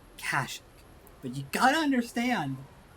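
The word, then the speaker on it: Kashyyyk: __ ] time that I pronounce it kashik but you got to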